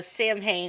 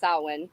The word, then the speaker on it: Samhain: of Halloween Oh I thought Sammy Hagar no Sam Hayne is Halloween it's actually pronounced salwan Salin I know all right well in one